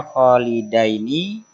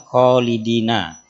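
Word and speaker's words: خَالِدَيْنِ: Jadi di sini hati-hati bacaannya Khalidaini bukan Khalidina. Dari segi makna memang berbeda. Kalau Khalidina itu untuk pelakunya banyak, tapi kalau Khalidaini pelakunya dua pihak atau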